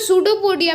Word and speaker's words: pseudopodia: सो सूडोपोडिया में P silent होता है.